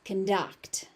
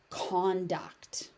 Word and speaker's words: conduct: So the stress pattern moves based on whether it's being used as a verb or a noun. So as a verb it is conduct. As a noun it is conduct.